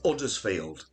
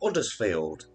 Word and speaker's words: Huddersfield: simple poem there was a cow from uddersfield this little cow it wouldn't yield the reason why it wouldn't yield it didn't like it's huddersfield there you go so now you know how to pronounce huddersfield question from worcester water